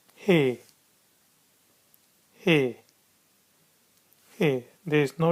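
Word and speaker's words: ح: And then we have got a letter he.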